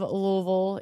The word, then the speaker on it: Louisville: Exactly how you say it. I grew up an hour and a half west of Louisville in Indiana, so certainly grew up saying that.